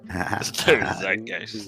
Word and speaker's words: zeitgeist: in their zeitgeist ravi zeitgeist it only has two syllables it's probably in the